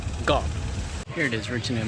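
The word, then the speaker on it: เกาะ: When Thailand transliterates the word island, they usually write K-O or K-O-H. But this right here, this is the Thai for island, and it's actually pronounced Ga, not ko or cow, Ga.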